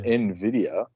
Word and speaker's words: NVIDIA: NVIDIA, pronounced NVIDIA, was carefully chosen because of its nuanced meaning tied to vision and envy.